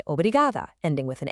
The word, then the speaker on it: obrigada: And for the women, your version is obrigada. It's that final ah sound that makes all the difference. The pronunciation is obrigada.